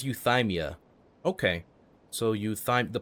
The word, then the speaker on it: Euthymia: her being oh okay so it's pronounced euthymia not euthemia i've been saying you